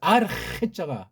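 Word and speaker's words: ἀρχή: 하나님에 대한 건 뒤에 쓰고 이거 관련해서 나타내 보여주는 계시 표현으로서 아르헤자가 아르헤 아르헤를 정확히 발음할 수 있냐고요. 아르헤 해를 표기하려면 이렇게밖에 현재 표기가 안 돼요. 캐도 아니고 해도 아니고 그렇게 읽지 않은 사람들은 다 아주 원어의 그 아직 첫걸음도 떼지 못한 사람이에요.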